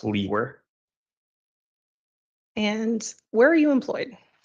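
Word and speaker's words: Liewer: name is and my last name is spelled l-i-e-w-e-r and it's pronounced Lee were and where are you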